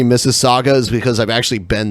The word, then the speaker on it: Mississauga: say it oh cool it's almost like Mississippi so it's M is s is s a UGA instead of M is s is s IPP I yeah interesting yeah man